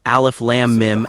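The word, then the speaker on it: الم: Alf lamb mim alf lamb mim the correct Way to recite it is to lengthen the lamb for six counts and the mim for six counts. Alf lamb mim alf lamb mim.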